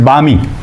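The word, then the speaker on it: balmy: so next word is बामी L silent है यहां पे ऐसा मौसम बहुत सुहाना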